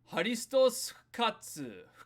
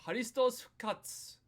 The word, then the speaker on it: ハリストス復活: That first one, this is how you say Christ is risen. Harisutosu fukatsu fukatsu You can add an u there. You don't need it. Fukatsu by itself is fine.